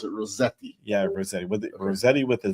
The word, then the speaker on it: Rosette: Okay, it's Rosette. Okay, Rosette. It's okay in Rosette, like a Z. You want me to pronounce it Rosetti?